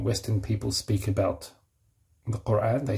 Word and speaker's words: Quran: And we know the Western, when Western people speak about the Quran, they say Quran because they find it hard to say, to pronounce the q.